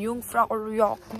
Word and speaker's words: Jungfraujoch: Jungfraujoch. The J is silent. So I guess आज का दिन यहीं पर खत्म होता है, तो कल हम मिलेंगे Jungfraujoch में एंड हम वहाँ पे कंटिन्यू करेंगे हमारा नेक्स्ट डे का व्लॉग.